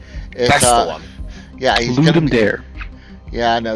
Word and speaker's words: Ludum Dare: It's a Ludum Dare. That's the one. Yeah, he's Ludum Dare. Yeah, no, he says it's Dare. Yeah, I know. Everyone mispronounced it.